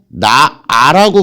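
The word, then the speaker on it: 낳아: 여기에 아가 결합한다고 칩시다. 그럼 발음하면 어떻게 됩니까? 나아라고 발음이 돼요. 근데 우리 쓸 때 나 아라고 발음 나는 대로 쓰면 안 돼요. 즉 히읗을 살려서 쓸 때 써줘야 돼요. 하지만 발음할 때는 나라고 발음한다라는 거.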